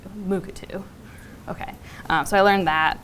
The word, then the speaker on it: Mukurtu: It's pronounced Mukatu, everyone, not Mukurtu, Mukatu.